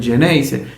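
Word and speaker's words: Xeneize: De ahí la denominación Geneise, que es una derivación de la palabra genovese, misturada con una pronunciación en castellano, va a dar origen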